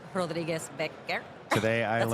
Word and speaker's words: Rodriguez-Becker: I think that like a few people were like, "Wait, Rodbeck isn't your actual last name." It's not, apparently. It's Rodriguez-Becker.